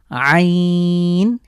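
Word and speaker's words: عين: এরপরে আইন, হা। এই দুটোর উচ্চারণ একটু স্পেশাল। আমরা কণ্ঠের মাঝখান থেকে চাপ দিয়ে হলকের মাঝখান থেকে উচ্চারিত হবে আইন, হা।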